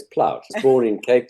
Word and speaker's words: Plaut: Or Plut, how do you pronounce it? It's a German name, so it's Plaut.